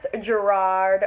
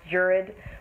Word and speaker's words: Gerard: starring morgan freeman nick nolte and of course gerard which is actually pronounced jurid we might talk about that today in the